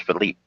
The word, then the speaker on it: Philippe: because that's how the French pronounce it, Philippe, not Philip.